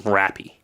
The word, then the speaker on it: Rappy: Everyone just calls him Rappy. Rappy. Rappy. I'm glad you chose that pronunciation.